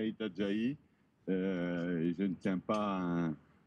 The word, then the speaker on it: Itajaí: Nous allons retrouver dans quelques instants Ben Wright, puisque le mât est bien arrivé à Itajaí, puisqu'on prononce Itajaí et non Itajaí, comme je le disais tout à l'heure.